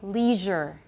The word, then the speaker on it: leisure: The third one in American English, most people say leisure.